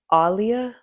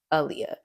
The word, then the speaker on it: Aaliyah: And it's Aaliyah, not Aleeah. So, my name is pronounced Aaliyah. Only have one A. And I think Aaliyah's actually had interviews where she's like, "It's Aaliyah, like Muhammad Ali."